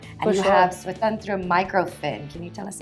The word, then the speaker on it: Svatantra: have Swatantra Microfin. Can you tell us about That is right. it? Kudos to getting the pronunciation correct.